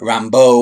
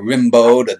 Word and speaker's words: Rimbaud: me about art or Rambo or Rimbaud depending on the dialect or whatnot there's about a half